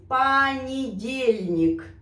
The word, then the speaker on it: понедельник: Meus queridos, às vezes o nós pronunciamos como a. Presta atenção на esse понедельник.